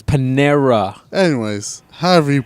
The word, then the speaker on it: Panera: It's Panera. Anyways, however you pronounce it, it's fine.